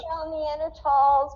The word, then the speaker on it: Neanderthals: groups okay um and you have neanderthals without the h and you pronounce it without the h and that is because